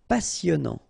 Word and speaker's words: passionnant: Final T not pronounced. Passionnant.